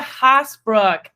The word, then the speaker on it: Haasbroek: female entrepreneur for our Thursday interviews Miss Risa hosbrook thank you so much for joining us I'm